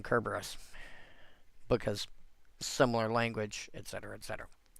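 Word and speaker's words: Cerberus: The C in, you know, the C in Caesar should actually sound like a K. And that's why I constantly call him Kerberus.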